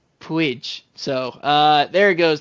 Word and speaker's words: Puig: spot to thrive and correction on his name I was looking this up before the podcast so I didn't mispronounce it like I just have been um I believe it's Ricky Puig so uh there it